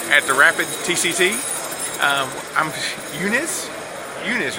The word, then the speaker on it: Uniz: this is duel at the rapid TCC I'm Eunice Eunice right Eunice yeah I can't even pronounce things day this is whom in whom